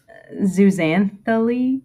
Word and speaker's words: zooxanthellae: one more time yeah you basically just pronounced the x like another z zuzan thule pretty much okay um they live